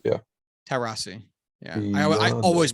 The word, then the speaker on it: Taurasi: Diana Taurasi. Yeah, I don't know. One of the greatest basketball I think the players last one was correct. Yeah. Taurasi. Yeah. I always mispronounce her fucking name.